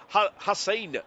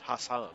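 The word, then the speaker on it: Haas: Um, Hass, not Hassan, I apologize.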